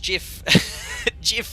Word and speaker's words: GIF: know I always get my chips emojis gif pronounced jiff is a better sort of cleaner that we